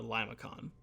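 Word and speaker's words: limaçon: definitely typically should be Lima Seoul I think is how it would be pronounced in French but in the United States we just more colloquially called a Lima con and again they form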